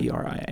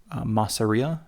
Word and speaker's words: Masseria: Masseria. Okay. Massaria, I think is how we say in English.